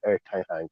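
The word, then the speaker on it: Erik ten Hag: That Erin Tankhagen or something like that. I can't recall Yes, his name. that's the name. You said it right. You said it right. Eric Ten Hag.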